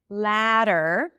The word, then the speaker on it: ladder: Ladder can be L-A-T-T-E-R, the ladder of the what I've mentioned, the last thing I've mentioned, the ladder, or a ladder that you climb up, okay, with a D sound, ladder. It's pronounced the same.